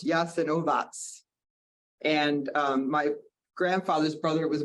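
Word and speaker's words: Jasenovac: um which was uh called it looks like yassanovic but it's pronounced yes and ovas and my grandfather's brother was murdered there I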